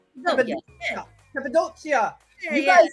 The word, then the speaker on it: Cappadocia: Cappadocia, did I say it right? Cappadocia.